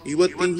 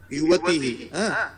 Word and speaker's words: युवतिः: काता किञ्चित् भ्रान्तिः अस्ति युवतिः इति ह्रस्व ईकारः अनन्तरं विसर्गः तु अतः उच्चारणं करोतु युवतिः सर्वदा उच्चारणं करोतु उच्चारणं